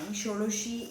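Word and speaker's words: Shodashi: to procure even something shoroshi is associated to the planet mercury now uh i am using the bengali pronunciations of the dasha mahavidya because honestly the most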